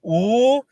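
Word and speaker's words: 五: In Chinese, five is pronounced "oo," and I would go "oo" when I didn't want to wake up.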